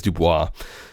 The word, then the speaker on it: Dubois: what am I saying the last name is Dubois so if it doesn't rhyme you're not pronouncing it right you have to get